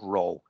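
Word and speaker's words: rho: actually a Greek letter that Greek letter there guys pronounced row okay it's actually we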